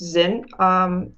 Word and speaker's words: Zynn: It's pronounced Zynn.